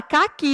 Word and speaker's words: caqui: Então, eu falei a palavra caqui, eu não consegui identificar. Então, o que eu faço, eu dou uma chamadinha, eu chamo, ei, caqui! Aí eu vou perceber que a sílaba mais forte é o que.